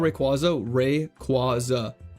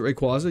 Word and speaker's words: Rayquaza: I pronounce it Rayquaza.